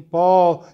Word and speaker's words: ball: will actually help right if you tell people that the the ah in ball is actually a short oh so maybe they'll understand